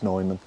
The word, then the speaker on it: Nyman: I'm hoping that that's a fierce uh pairing Claraara and Noman, Newman, however you pronounce the name. Apparently, he's confirmed it's Nyman.